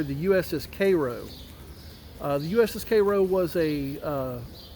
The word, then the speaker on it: Cairo: We are here at Vicksburg National Military Park, and behind me you can see the USS Cairo, in the way we pronounce it down here, the USS Cairo.